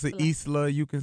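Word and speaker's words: Islah: pronounce it Isla.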